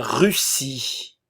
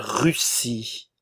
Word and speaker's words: Russie: nasal en la Russie la Russie ok ici n'oubliez pas nous avons le U français la Russie l'Italie le